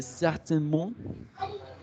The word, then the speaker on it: certainement: Le plus célèbre est certainement Les plus célèbres et certainement. Bueno, aquí certainement esta E nunca la pronunciamos. Cuando hay una E en una palabra larga, por lo general nunca se pronuncia, ¿vale?